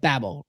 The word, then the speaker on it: Babel: at the Tower of Babel right surely you've made the connection that Babel or Babel depending on how you pronounce it is the same